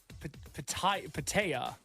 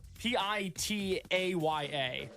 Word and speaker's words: pitaya: The official name of it is, I don't know how to pronounce it. So, Say, I want to try it. Pitaya. That sounds about right. Pitaya. Huh. Pitaya.